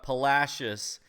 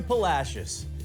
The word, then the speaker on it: Palacios: that all right everybody don't go wait he mispronounced it because if you go down to Palacios and you start going I'm sorry I am